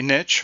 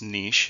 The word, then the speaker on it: niche: A niche or sometimes pronounced niche, it can be really pronounced either way, is the role an organism plays in this ecosystem.